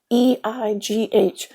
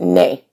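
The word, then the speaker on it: не: When I say ne, it's Neigh, right? A Russian tries to read it phonetically. It's like nyeh, nyeh. Well, that's the emotion I have, yes, but I pronounce it nay, like nay, yay or nay, YAY or NEIGH.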